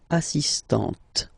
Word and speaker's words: assistante: But for the feminine form, elle est assistante.